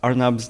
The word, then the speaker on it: Arnab: the inside joke so arnab's name is pronounced as door knob without a d even now like when I play tennis for example that's when I meet the most strangers nowadays some people have a hard time like trying to hear or say my name so I kind of like take that easy way and say okay think door not and then now just cut that first part out it's it's exactly like that